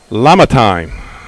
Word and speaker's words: Lamontine: Richard Massey tells me that Nolan's last name is Lamontine.